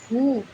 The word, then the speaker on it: who: एक स्पेशल बात, अगर किसी स्पेलिंग की शुरुआत में हु से होता है तो वहाँ डब्लू साइलेंट होता है।